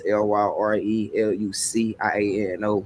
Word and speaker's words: Lyre Luciano: Everything is spelled the same way. It's LYRELUCIANO.